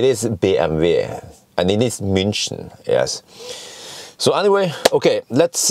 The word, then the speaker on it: München: So yes, it is BMW and it is München.